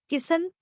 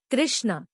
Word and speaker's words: कृष्ण: पर ये नाम ठीक है किसन, यशोदा जी बोली। फिर हंसे गर्ग जी बोले, किसन नहीं, कृष्ण।